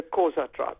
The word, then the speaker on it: Xhosa: The tribe, was it Xhosa tribe? If you try using it like a K, the Xhosa tribe.